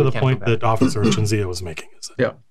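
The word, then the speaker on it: Cinzia: It's spelled C-I-N-Z-I-A. Chinzia?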